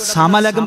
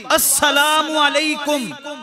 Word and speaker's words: السلام علیکم: بد دعا بن جاندی السلام علیکم اس طرح تلفظ دے نال السلام علیکم کہنا ہے سلام علیکم سلام علیکم اس طرح نہیں کہنا جڑا بندہ سلام علیکم